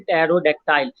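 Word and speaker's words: pterodactyl: तो repetition of द P includes टेरोडेक्टाइल, although the p in the word is silent, this still counts as alliteration।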